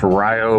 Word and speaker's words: Rio: Uh we are in Rio and it is pronounced Rio, Wisconsin, and it's supposed to have a good meat market.